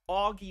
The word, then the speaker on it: Augie: too much aie August Auggie is pronounced more like August it's a nickname I've had for 15 years based on my last name okay Augie thank you